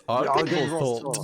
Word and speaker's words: Argynvostholt: You must put on a German accent and go to Argenvostholt. Argenvost. It's Argenvostholt. Yeah.